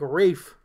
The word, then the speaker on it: Ralph: I don't even know where he's from specifically, but dude, your name's spelled Ralph. I realize Ralph sucks. Yeah, it's not good. But at least spell it different so it's like Rafe.